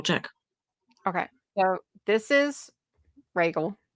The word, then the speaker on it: Rhaegal: How do you pronounce that dragon's name? Is it But Rhaegal?